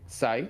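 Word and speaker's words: ξ: Yeah, for some reason in Uh, English the letter X is sometimes pronounced as a Z. Don't ask why. Yeah, Just I like know that. in Greek it's Why? called she with like SH, but yeah, okay, that's Sai.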